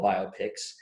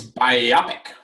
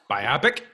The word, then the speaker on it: biopic: me nuts it's biopic it's bio yeah it's a biographical picture right right biopic right it's biopic biopic makes it sound